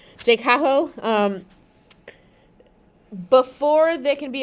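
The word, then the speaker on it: JCAHO: So this J CO we'll call it let's just pronounce the abbreviated words Jaho um before they can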